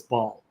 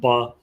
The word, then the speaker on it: Baal: refers to him as Baal, as sometimes people pronounce it, but in Hebrew you'd pronounce it Baal.